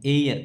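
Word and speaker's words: heir: एम एम तो एन एमएलए एन एयर। इसमें भी एच साइलेंट है।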